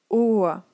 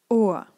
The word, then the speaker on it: Ohr: So after a long vowel, it's a consonant when it's at the end. So let's read together. Vier, ihr, der, Ohr. And here try to listen what I'm saying and not to read. It's a small a sound. So once again, vier, ihr, der, Ohr. So here please have faith and really pronounce it this way, although you read an R, it's really important that you don't pronounce it.